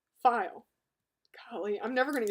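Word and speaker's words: faille: It's not fail. It's pronounced file.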